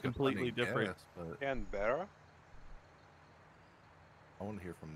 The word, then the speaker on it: Canberra: Is it Cambria? You say Cambria? Want to say their attempt? Is that what you said, Lon? Yeah, Cambria. It's actually just Canberra.